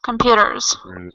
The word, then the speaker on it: computers: Computers. Computers with a Z sound.